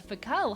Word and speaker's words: Foucault: Saw multiple videos, and a streamer all pronounced it with the L silent a couple days ago. Cool, Foucault.